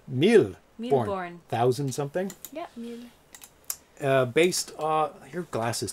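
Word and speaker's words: Mille Bornes: fine yeah i mean millie bourne oh it's a french so i'm saying it wrong that meal born thousand uh your glass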